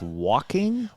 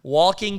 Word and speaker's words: Joaquin: jokers matter to us wait it's pronounced walking walking phoenix it's a movie but